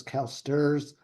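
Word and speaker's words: CalSTRS: State teachers retirement system also affectionally known as calsters calsters is one of the largest global Pension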